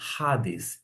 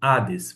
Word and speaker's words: Hades: A gente comumente fala Hades, mas acontece que quando a gente se pronuncia dentro da chamada pronúncia erasmeana, tem uma aspiração áspera ou um espírito forte que você vai mencionar Hades e não Hades.